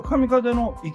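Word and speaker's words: 神風の行: のね伯爵の神風泊ってねでこれ神風の行と読むんですねでここ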